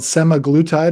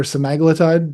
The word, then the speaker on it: semaglutide: But all they are is a peptide called semaglutide or semaglutide, depending on how you want to pronounce it.